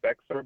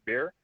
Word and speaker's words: Bexar: doing in beer County I know a lot of people say it's Bexar but it's actually pronounced beer oh I'm sorry okay